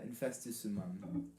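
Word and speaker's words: Infestissumam: Yeah, Infestus Sumam. That's how it's pronounced.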